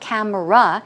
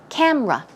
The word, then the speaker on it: camera: in three syllables right but in English it's not Camara it's rather two syllables so it's camera okay camera two syllables let's try it together